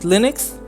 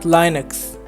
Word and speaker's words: Linux: linux was too egotistical linux is pronounced linux and not linux linus or linus what's exactly your preferred